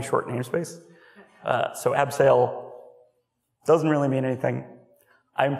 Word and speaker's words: Abseil: have to change it let's change that C to an S and just keep pronouncing it abseil that is literally what